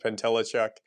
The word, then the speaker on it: Pentelechuk: me uh nice to meet you and you pronounced my last name perfectly so my name is pentelechuk I own a business called clean cut real